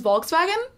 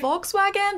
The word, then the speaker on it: Volkswagen: them in the car oh and your friend's Volkswagen huh you don't to say it that way Volkswagen the car okay hold on hold on we're